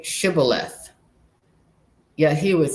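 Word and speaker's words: shibboleth: So, he was supposed to say shibth, but he pronounced it cyth because he couldn't say it right.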